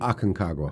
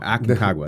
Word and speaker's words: Aconcagua: Is it Aconcagua, right? Aconcagua. Aconcagua. The hard one to pronounce.